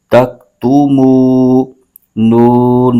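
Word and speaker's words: تكتمون: کھینچ کے پڑھیں گے۔ ہجے یوں کریں گے، تا کاف زبر تک، تا پیش تو، تک تو، میم واو پیش مو، تک تو مو، نون زبر نا، تک تو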